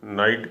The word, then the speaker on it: night: और इसी को अंग्रेजी वालों ने नाइट कह दिया है।